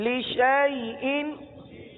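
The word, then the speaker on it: لِشَايْءٍ: کا نشان آ گیا، الف ختم ہو گیا، الف کو نہیں پڑھنا، شین کو یا کے ساتھ ملا کر پڑھنا ہے۔ اب مثال کے طور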